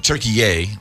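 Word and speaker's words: Türkiye: Turkey or I believe as they now pronounce it turkeyy the turkey uh that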